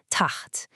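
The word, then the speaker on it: تحت: The word taht, which means below. The word is spelled with a ta, a ha, and another ta. Notice that little circle on the middle letter, the ha? That's our sukoon. It's telling us to mash those first 2 letters together into one syllable, taht.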